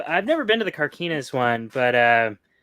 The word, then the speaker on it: Carquinez: It's Carquinez, so close. Close on your pronunciation there.